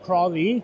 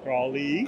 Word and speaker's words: Croithlí: It's pronounced Croithlí. Croithlí.